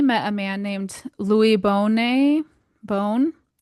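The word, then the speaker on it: Bohne: It was while Francois was traveling that he met a man named Louis Bonet Bone B O H N E. Again, I'm so sorry for all these French pronunciations.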